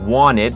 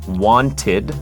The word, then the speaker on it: wanted: บอก ว่า I wanted สังเกต สำเนียง ของ Adดัม นะ ครับ ตัว T หาย ไป wanted แต่ ถ้า ชัด ก็ wanted wanted โ I wanted to